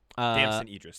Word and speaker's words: Damson Idris: Uh you've got uh Damson Idris. Damson Idris.